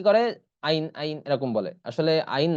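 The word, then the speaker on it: عين: থেকে উচ্চারণ হবে তাহলে আইন এটা একটু ভিতর থেকে উচ্চারণ করার চেষ্টা করতে হবে না হলে এটার উচ্চারণটা শুদ্ধ হবে না তাহলে উচ্চারণ কি হবে আইন আইন এরপর আছে দেখুন এই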